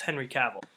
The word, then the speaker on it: Henry Cavill: that's how you say his name yes it's Henry Cavill so stars Henry Cavill and Armie Hammer Henry